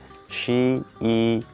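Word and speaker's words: 十一: আমরা যেমন বাংলা ভাষায় শিখছি যে 10 10 1 11, তেমনই হচ্ছে চাইনিজেও সেইভাবে উচ্চারণ হয় শি ই মানে হচ্ছে 11, 10 প্লাস 1।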